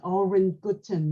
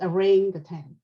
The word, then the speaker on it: orangutan: Her friends told her that it's not Oren Guten, Mom, it's orangutan.